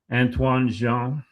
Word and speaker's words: Antoine Jean: Antoine Jean, uh, I'm pronouncing it the Quebec way.